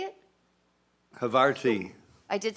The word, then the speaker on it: Havarti: Havarti.